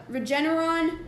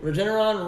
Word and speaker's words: Regeneron: yesterday i think how you say it uh regeneron regeneron rem deserver vitamin d uh famotidine melatonin aspirin